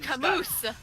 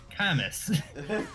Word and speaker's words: Camus: and they thought, oh, it's like Samus, Camus. Oh wait, this is French. That S is silent. Oh yeah, he's Camus.